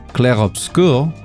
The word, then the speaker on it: Clair Obscur: And sorry, I'm going to be pretentious and actually try and pronounce this correctly. Clair Obscur.